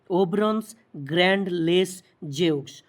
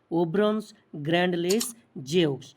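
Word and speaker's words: Ouvrons grand les Jeux: মোটো ছিল games wide open যেটা ফ্রেঞ্চে যার উচ্চারণ এরকম ঠিক ওভব্রন্নস গ্র্যান্ড লেস জেউক্স ওভব্রনস গ্র্যান্ড লেস জেক্স তাহলে নীতিবাক্য ছিল বা মোটো ছিল গেমস ওয়াইড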